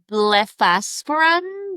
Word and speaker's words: blepharospasm: Um there's a difference um between cervic- cervical dystonia and blepharospasm? Bleph- how do you say this? Blepharospasm. Mhm. Okay. Yep. Blepharospasm, right? Blepharospasm.